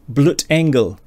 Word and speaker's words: Blutengel: noise and words i'm hedgie and this is bloot engel which has probably got uh matt blau laughing at my german pronunciation um which translates as blood angel which